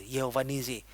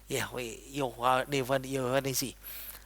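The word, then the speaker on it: Jehovah Nissi: Kalau saudara sedikit masih ingat ya, bacanya dari belakang karena ini huruf Ibrani ya. YHWH Ni Si. Nah, ini kalau dengan titik di tengah kan double S ya. Nisi itu, Yehovah Nisi. Yehovah Nisi.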